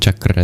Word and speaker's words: chakra: Dear Ana, you're never going to pronounce mantra and chakra the same after today. It It's also more satisfying that way. I think colloquially it's called the crispy R and I love that. It's crispy.